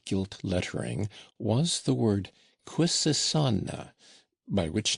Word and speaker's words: Quisisana: lettering, was the word Quisisana, by which name the retired little dwelling was known throughout the town, where they pronounced it with a very soft S and a very broad A.